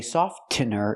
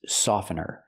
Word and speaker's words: softener: this is fabric softener remember the tea is silent I cannot say softener it's softener this is fabric softener